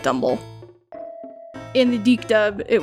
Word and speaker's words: Dumble: It's actually— it's most likely supposed to be like Dumbbell, but everybody calls it Dumble.